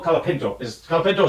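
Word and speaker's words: Franco Colapinto: oh kop kapino kapino Franco kapino is kapino is how they pronounce it and he just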